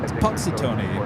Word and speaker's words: Punxsutawney: How do you say that name again? Punxsutawney? Punxsutawney, Pennsylvania, 15 degrees, lots of snow.